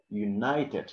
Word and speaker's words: united: So here, the thing that we have to emphasize is the letter I, you will pronounce it like I right there. You can take it out. So you can pronounce it like I, okay, united, I, united, united, sight.